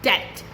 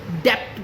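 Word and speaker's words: debt: बोलते हैं सेटल या डेट जिसे कुछ लोग डेप्ट बोलते हैं जो गलत है इट्स डे या डाउट डी रहता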